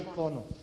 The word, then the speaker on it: icono: Eso es lo que yo iba a mencionar, que la academia lo menciona de las dos formas. Pero arranca que con originalmente sí grave. era icono. Arranca con grave.